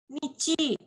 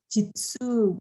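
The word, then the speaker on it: 日: Ini juga bisa dibaca nichi, desne. Nichi bisa juga dibaca jitsu gitu ya.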